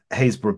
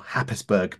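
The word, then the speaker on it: Happisburgh: I was very lucky the other day to spend the day on the Haysborough Beach, or Happisburg Beach, if you pronounce it incorrectly, with Richard, getting very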